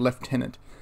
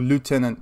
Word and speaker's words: lieutenant: tendency of commands with it's why it's called leftenant or lieutenant if you use the actual French pronunciation so that the cabinet's